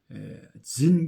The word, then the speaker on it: Zin: 다섯 번째가 ZIN 신하고 구별하기 위해서 발음을 진 광야.